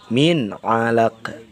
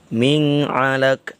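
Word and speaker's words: مِنْ عَلَقٍ: cara dilahirkan atau dijelaskan Min Alaq gitu ya Min ada dijelaskan jangan kayak gini Ming Alek jangan ya itu termasuk hukum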